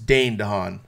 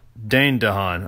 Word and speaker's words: Dane DeHaan: Gahan is how you say his name it's Dane DeHaan Dane DeHaan okay yeah I was like not Dave Dane